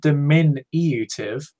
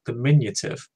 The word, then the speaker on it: diminutive: It's not diminutive. It's diminutive. That's the correct way to say it.